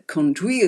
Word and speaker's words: conduit: Just remember that we are that conduit, or the conduit as I have always pronounced it. I was corrected by Zoo recently. That we are able to